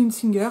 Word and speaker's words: Hunzinger: ma table de Claudie Unsinger. Je vais avoir tendance à le prononcer à l'allemande mais je crois qu'elle est alsacienne.